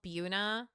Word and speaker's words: Buena: So, in New Jersey, we have a town called Buuna, but it's spelled Buena because it is Buena, but it's like Anyway,